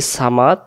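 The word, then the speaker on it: صمد: এখানে আমরা বলবো আল্লাহু সমাদ। এইটাকে আমরা অনেকে বলি সামাদ। যদি আমরা বলি সামাদ, তাহলে সদ অক্ষরের জায়গায় সিন অক্ষর উচ্চারণ হয়ে যাচ্ছে, তাহলে এখানে আমরা বলবো আল্লাহু সমাদ আল্লাহু সমাদ।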